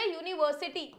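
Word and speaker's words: university: मैंने क्या लिख दिया यूनिवर्सिटी ठीक है अब यहां पर यार साउंड तो या का आ रहा है ना ये भी तो देखो साउंड किसका आ रहा है साउंड या का है और हमें क्या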